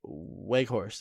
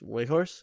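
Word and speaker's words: Weghorst: he's got 25 and fourth is wake horse i think it's way horse i think so you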